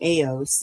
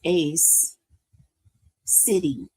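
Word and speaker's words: Aos Sí: So, it's pronounced ace. I said aos, but it's ace city.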